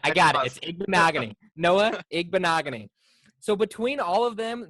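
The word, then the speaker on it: Igbinoghene: for some well that's okay because we can pronounce it here his name is Noah egg bonaga knee I got it I got it Magne Noah egg bonaga knee so between all of them they will have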